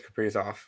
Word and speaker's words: Kaprizov: I know it's Kaprizov. Tim loves to pronounce the players' names incorrectly, but no, I like to announce the Wild players' names incorrectly.